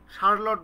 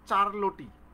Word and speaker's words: Charlotte: তো এখন শার্লট Brontë বানানটা কিন্তু এরকম, তো আমি এটা মনে রাখতাম চার্লোটি, CHARLOTTE, চার্লোটি। এটা নাকি উচ্চারণ হচ্ছে শার্লট। বলেন।